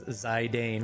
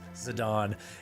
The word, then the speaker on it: Zidane: For years I pron pronounced Zidane as Zidane, which is what I just did. Tell Sigia showed me it was Zadon.